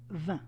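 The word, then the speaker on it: vingt: enough and 20 is V actually it's pronounced like the word wine in French it's not spelled the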